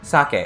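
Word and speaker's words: 鮭: pitch it goes socket and salmon the fish is sake it's high low high high low so there is a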